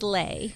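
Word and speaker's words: Leigh: oh you can't well she goes it's like slay so she says lay yeah and I say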